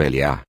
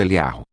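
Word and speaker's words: אליהו: Existem duas formas de pronunciar o nome do profeta Elias. A forma curta como Eliá, e a forma alongada como Eliarro.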